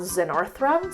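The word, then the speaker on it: Xenarthra: The the three of them are in a grouping called Zenarthra, spelled with an X.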